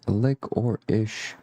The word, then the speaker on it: licorice: Rick, lick or ish is how I pronounce licorice.